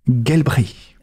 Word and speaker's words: Gelbrich: D'accord, je vais prononcer à l'allemande, c'est Daniela Gelbrich. Gelbrich.